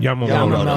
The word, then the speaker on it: Yamamoto: Yamamoto.